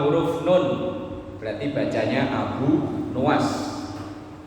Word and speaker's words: Abu Nawas: "Kami memanggilnya Abu Nawas , tetapi pengucapan yang benar adalah Abu Nuas.